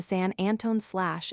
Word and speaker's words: San Antonio: San Antonio/ has been changed to San Antone/ in popular pronunciation and seems likely to go to Santone.